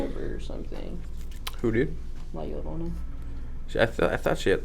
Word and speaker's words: La Llorona: La Llorona. How do you say it? No. I just say it the white way. La La Llorona.